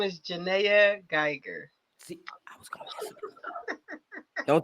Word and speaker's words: Janaya Geiger: I think I'm getting ready to butcher her name, so I'm not gonna even pronounce it. My name is Jana Gger.